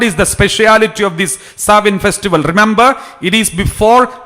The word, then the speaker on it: Samhain: The spelling is Samhain, but it is pronounced as Samhain Festival.